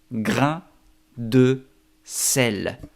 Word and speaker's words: grain de sel: Es como si pronunciarías grain con una D al final.